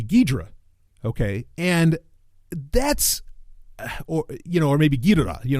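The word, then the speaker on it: Ghidorah: I was a kid I said King gadora too right but I learned later on that really the pronunciation should be gidra okay and that's or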